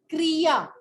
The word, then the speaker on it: क्रिया: Written प्रक्रिया है, बेटे वो री जो है ना, वो री ही प्रोनाउंस करती है। जैसे ये है वर्ड नृप, और वो बोल रही हूं मैं क्रिया, क्रिया, ये री नहीं है, ये र को